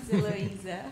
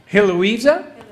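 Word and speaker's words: Heloísa: Eloisa. Yeah, Heloisa? Eloisa. See, Freddie doesn't let me do anything that's It's not going to English. be H. I can't get that.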